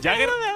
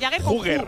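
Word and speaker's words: Jugger: mueve bastante bastante bien jager jager no no no se escribe Así se escribe huger J U g g e r donde España es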